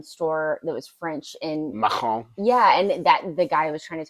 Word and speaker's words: macaron: So my favorite thing there that I wish was anywhere else is this giant macaroon, or I might be pronouncing that wrong.